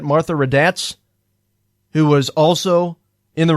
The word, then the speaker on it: Raddatz: Raddatz, I think is how you say it. Martha Raddatz, who was also in the room.